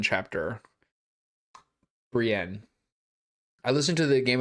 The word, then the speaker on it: Brienne: oh great like a Brienne chapter Brienne. I listened to the Game of Thrones audio books and the guy pronounced it brien and I was like this can't be right and it still bothers